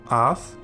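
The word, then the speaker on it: אַתְּ: And then this one, with the Shewa under the final tav, Ath, which means you, in the feminine singular form, so think of you, lady.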